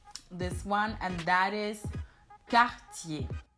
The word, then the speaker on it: Cartier: Another French luxury jewelry brand is this one, and that is Cartier. So it's not Cartier, but it's Cartier.